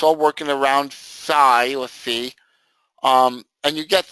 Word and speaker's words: phi: you twist it, yeah, it's called phi or phi. But it's really sounds like F-E-E-A-Z. The true pronunciation is F-E-E, but a lot of people call it phi because that's how it is, but it's really called phi. That's the correct pronunciation. So I call it phi. It's either or, it doesn't matter.